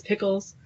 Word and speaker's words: Pickles: would say it wrong it is pickles so thanks Ian thank